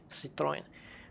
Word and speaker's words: Citroën: I think the one that a lot of people get wrong is Citroën, or Citroën, as a lot of people say. Citroën, because it's French, Citroën.